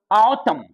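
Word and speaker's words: autumn: है तो गौर कीजिएगा हम लोग ऑटम ऑटम बोलते हैं ऋतु का नामम ऑटम एम के बाद एन एन को नहीं पढ़ना है ऑटम लिखना है ऑटम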